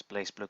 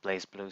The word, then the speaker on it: BlazBlue: blaze blaze blow game people pronounce it blasts boo I like to call it blazblue so just don't [